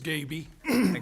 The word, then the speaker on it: Gabby: the vowel uh a it is Gabby like baby with a G I wondered thank you